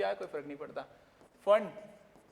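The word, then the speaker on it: Pfund: फंड हाँ, P silent रहता है।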